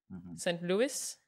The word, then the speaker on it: Saint Louis: was meet me in saint louis saint louis that's how you pronounce it yes um starring judy